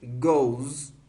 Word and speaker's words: goes: Cuando es el caso de los verbos que terminan en O, la E no se pronuncia, ¿ok? La E es muda en este caso. Sería Frank goes to China.